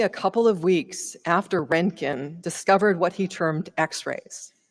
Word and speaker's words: Röntgen: namesake of our society, Wilhelm Röntgen, or as my husband keeps telling me, it's Röntgen, and we all pronounce it the wrong way.